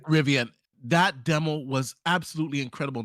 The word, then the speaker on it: Rivian: They also showed some other demo with I think it's a Riviera truck or something like that. I might be saying the name wrong. Rivian. It's Rivian. Rivian.